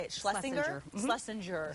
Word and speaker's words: Schlessinger: Schlessinger.